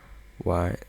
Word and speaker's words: y: Why, there. You would pronounce it E.